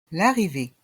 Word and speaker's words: l'arrivée: est mué le départ l'arrivée l' r la deuxième voyelle E est muette le E est mué l'arrivée un billet d'avion